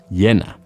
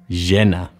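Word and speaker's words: llena: l e n a two L's in Spanish are pronounced as a y sound y or a sha sound or even a j sound they are all perfectly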